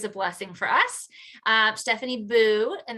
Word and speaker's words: Booe: Stephanie Booe, and that's pronounced Boo, not Booe, which I had incorrect, is a writer, a